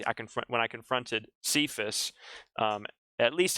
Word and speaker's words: Cephas: would have been saying the aramaic word for rock which is kephas or as we pronounce it when we see it in the bible cephas we see it in